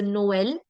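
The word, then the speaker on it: Noël: So instead of this being nol or nef or eti, it's going to be pronounced separately. So Noel, naif, eti, main, aigu.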